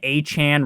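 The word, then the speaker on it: Achane: him aan sometimes um how do you actually pronounce his name it's supposed to be aan Nick and I know it's supposed to be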